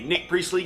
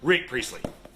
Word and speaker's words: Rick Priestley: This is a Nick Priestley game. Rick Priestley? Nick, wait. I want to say his name right. It is Rick Priestley.